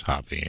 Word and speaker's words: Hopp: Hopp. I'll go and start saying it's Hoppy. Okay, so it is Hoppy. I didn't know if it was a Silent P or not?